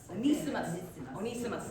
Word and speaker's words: Onesimus: Onesimus.